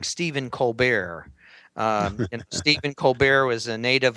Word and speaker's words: Colbert: that he could just use the french pronunciation of his name to make himself extraordinary so henceforth he called himself stephen colbert instead of stephen colbert his father was the